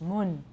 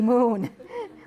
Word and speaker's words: moon: we have un no only in taiwan english mun should be moon we have it in